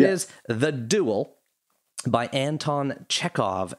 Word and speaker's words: Chekhov: It is The Duel by Anton Chekhov, Chekhov. Did I pronounce any of those words wrong?